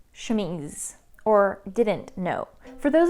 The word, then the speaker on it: chemise: upload for 26 minutes you heard me pronounce more than a dozen times shumish yes that is how i pronounced it and i had no idea that it was incorrect my mom and oldest sister knew how to pronounce it correctly but in my hearing them say it and then pronouncing it myself it somehow turned into chamish two of my other